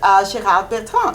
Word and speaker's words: Gérard Bertrand: And she works with Gérard Bertrand. Am I pronouncing that right?